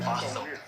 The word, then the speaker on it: Bothell: How do you spell it? Bothell. Oh, Bothell. Oh, yeah, Bothell.